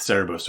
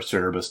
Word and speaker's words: Cerberus: But speaking about hellhounds particularly, these can kick as far back as ancient Greece with Cerberus or Cerberus, depending on how you want to pronounce that.